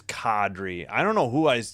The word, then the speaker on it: Kadri: It is Kadri. I don't know who I heard saying Cadri. It is Kadri.